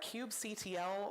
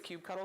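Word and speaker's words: kubectl: you you will also need a cube CTL also called Cube control also called Cube cuddle or Kube for any of those and it has become a little bit of a clicky thing who says what but it's uh I'm looking at you Quinn but it's it's you say Cube cuddle I know I know officially it's Cube cuddle because it got a little cuttlefish but I just can't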